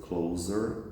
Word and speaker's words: closer: pronunciation in this sentence be careful about the word closer because closer is z sound but we have close close as an adjective is s sound but to close as